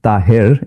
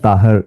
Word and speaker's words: Tahir: It's Tahir in Urdu and Tahir is in Arabic.